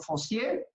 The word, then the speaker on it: Fossier: Decíamos la pronunciación, Feusier. Permíteme, Osvaldo, para aprovechar mi francés, Osvaldo Fossier.